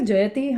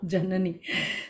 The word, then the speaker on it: Janani: on you banging on did I say jati I I think I said your name wrong yeah janani ji is another painter in